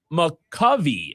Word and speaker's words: McCovey: Texter says pronounced McCovey, named after Giants Hall of Famer Willie McCovey, talking about McCovey Cove.